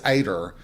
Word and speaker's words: Ada: would ask her, like, if somebody said, "Oh, that's Ader." And you would say, "How do you spell that?" And they would say, "A D A." And you would go like, "Oh, Ada." And they would look at you so funny. Like, "No, that's Ader."